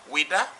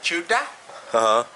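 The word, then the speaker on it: Ouidah: to pronounce weda right french people say wita and uh portuguese say uh tuta other people say a wider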